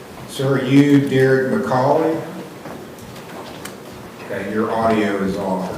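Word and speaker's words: McColy: And is it McCauley? Is that how you pronounce it?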